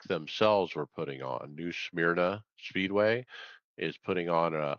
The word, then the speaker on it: Smyrna: New Smyrna Speedway is putting on a iRacing competition.